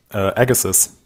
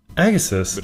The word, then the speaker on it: Agassiz: Ja, ähnlich wie Josh Bryson fand, was mit Graham Agassi, wie wird Graham Agassi eigentlich ausgesprochen? Ja. Wie Agassi. Agassiz. Agassiz, ja.